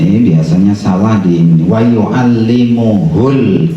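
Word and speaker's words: ويعلمه: Wauallimuhul kitaba wal hikmah. Bukan wauallimuhumul. Enggak ada mimnya ya.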